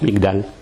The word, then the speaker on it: migdal: Et en en égyptien, tour, ça se prononce migdal.